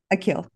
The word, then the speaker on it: Akil: Dr um and may I ask how you pronounce your name I want to say it correctly aill akill Dr akill is a Harvard trained physician who